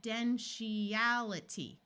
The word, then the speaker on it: confidentiality: to know is that when we divide between an i and another vowel the I usually has a long e sound so let's switch from a long I to a long e here and remember that to that this T is going to say sh confid confidentiality confidentiality there we go here in this word